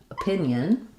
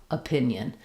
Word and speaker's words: opinion: Or for O, for example, in opinion, they're going to show the schwa as well, opinion.